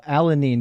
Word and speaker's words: alanine: So it's proline, Say it alanine.